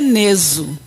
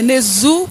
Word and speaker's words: Nezu: Segundo meu pai, é Neso. Agora, segundo a pronúncia popular, né, é Nezu, que é mais fácil, né?